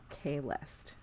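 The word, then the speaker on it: Kahlest: Man, I'm spelling it how they read it in the thing, which is not how it's said phonetically. So I'm gonna Kalest.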